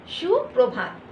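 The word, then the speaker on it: সুপ্রভাত: बड़ा श का उच्चारण होगा, ये ध्यान रखिएगा, शु स नहीं उच्चारण होगा, सुप्रभात सुप्रभात। जब हम लोग सुबह सुबह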